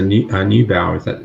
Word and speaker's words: Neubauer: And so was Lisa Neubauer, if that's how you pronounce her name.